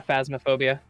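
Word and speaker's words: Phasmophobia: going to play how do you say it phasmo is that how you say it yeah phasmaphobia yeah phobia i've never played it and i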